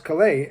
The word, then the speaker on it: Caillat: birthday milestones on Thursday yesterday right there Colbie Caillat and I had to look up how to pronounce Calleigh and that's not how I would have pronounced